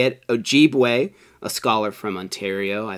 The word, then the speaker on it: Ojibwe: Johnson from the tribe, we just looked up how to say it, Ojibwe, a scholar from Ontario.